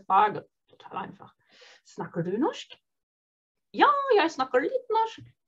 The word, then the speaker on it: norsk: Snakker du norsk? Ihr seht, bei norsk ist das R und das S in meiner Aussprache zusammengezogen zu einem Sch.